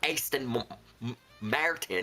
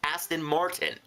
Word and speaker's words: Aston Martin: Not not Aston Martin. It's Aston Martin.